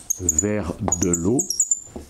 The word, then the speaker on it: Verdelot: donc vers de loi comme ça se prononce pratiquement vers de l'eau est un compositeur donc